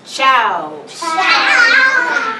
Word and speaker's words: ciao: that's a hard one it's ciao if we were gonna spell it in English we would say c-h-o-w but we don't in